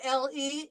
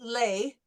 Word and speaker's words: le: Whenever we see the LE, it's always that nasal E. Le. So it will never be lay. It'll always be le.